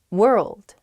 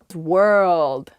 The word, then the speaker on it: world: more clearly world world ah i see why this one's hard world world hard to pronounce that rld i think together is tough plus that w at the beginning as well it's such a short word but you have to say so many weird things at the same time